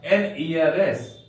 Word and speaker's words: heiress: और अगर बेटी वारिस रहे, उत्तराधिकारी रहे, तो उसका होगा एन ईयरएस, HEIRESS, एन ईयरएस।